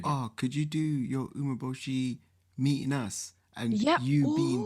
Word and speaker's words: Umeboshi: Your Umeboshi, did I say it right?